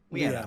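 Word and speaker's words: Lyanna: Liana.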